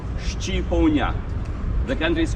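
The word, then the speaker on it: shqiponjë: word for Eagle in our language Eagle is pronounced shipon the country is called Shia country of the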